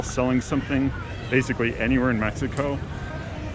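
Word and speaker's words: México: And I keep pronouncing the X, it's Ciudad de Mexico.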